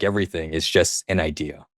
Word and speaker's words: Aidia: So it's pronounced idea. And everyone always asks me, why do you spell it that way? I mean, the real answer is that that's how you would say, spell idea in Japanese, and I'm Japanese.